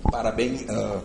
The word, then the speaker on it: parabéns: E com ENS, parabéns. Parabéns. Parabéns. Sílaba tônica acaba com ENS.